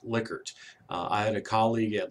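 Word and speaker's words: Likert: I know it looks like it should be lyker but it is actually pronounced liquer I had a colleague at Louisiana State University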